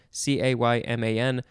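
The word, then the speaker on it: caiman: The genera names, it looks like there's a few, Cayman, C-A-I-M-A-N, or Melanosuchus, or Paleosuchus. Let's see, this is a Spanish word, probably from the Caribbean word Cayman, C-A-Y-M-A-N, which is probably pronounced Cayman.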